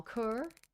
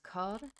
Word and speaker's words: cœur: Hello, mon coeur. It's pronounced cœur.